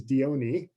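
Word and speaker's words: Dione: you look it up lots of different pronunciations the one that i found the most recently because i thought i should see if there's more of a consensus is diony but i've also seen you know dion this one obviously a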